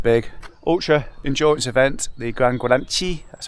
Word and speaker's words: GranGuanche: Anyway, 3 weeks from now, I'm going to be doing my first big ultra endurance event, the GranGuanche, that's how I'm pronouncing it.